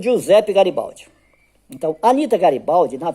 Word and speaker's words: Giuseppe: Lá pronuncia G, né? Então, Giuseppe.